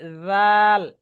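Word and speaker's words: ذال: একটু মানে কনফিউজড আচ্ছা আমি আপনাকে বলি জাল উচ্চারণটা হবে এই যে জিহবাটা দাঁতের এই হালকা আগায় লাগবে জাল জাল দুইটা যখন বলবেন তখন জিহ্বাটা বের হবে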